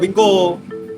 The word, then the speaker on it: Wingco: Tulisannya wingco, dibacanya wingko.